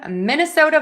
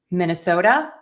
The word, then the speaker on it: Minnesota: Minnesota. Minnesota. And yes, I wrote that with a D. Technically, it's the flap T for the ending there. And the reason is is that T is between two vowels.